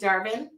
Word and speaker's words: Darvin: talking to my buddy Darvin my buddy rhymes with Garvin uh because I'm shipping